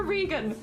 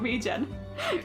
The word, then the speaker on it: regen: Auto Regan. What is it short for? Regeneration. Well, okay, then not regen.